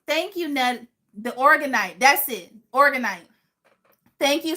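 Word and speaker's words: Orgonite: The Organite.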